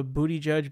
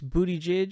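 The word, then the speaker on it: Buttigieg: as it is because it's basically spelled booty judge and that's almost how it's pronounced really it's booty J kind of booty J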